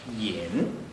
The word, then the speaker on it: 尹: 个君上边这个是读作尹，就是尹相杰那大胖子唱歌的尹相杰那个尹，对啊，